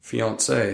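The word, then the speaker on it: fiancé: Fiance, is that French? Fiance, yes, and fiance is the same, both male and female. But it's spelled differently, but it said the same in French.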